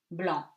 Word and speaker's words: blanc: And C is silent at the end of the word in these words. For example, you have these examples: tabac, tobacco, porc, the pig, estomac, stomach, franc, sincere, blanc, white.